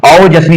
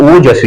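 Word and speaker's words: ओजस्वी: महा आ की मात्रा आ जाएगी और प्लस औजस्वी होता है कि ओ जस्वी होता है। आपको याद करने में ही ये इसका प्रोनाउंसिएशन करने में ही आपको पता चल जाएगा कि यहां अगला क्या आपको मात्रा मिलेगी। ओ होगा। ओ ओ जस्वी होता है। ओ जस्वी होता है। और जस्वी नहीं होता।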